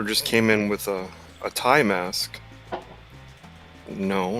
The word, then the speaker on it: Ty: Well, it said Thai, but it's spelled TY.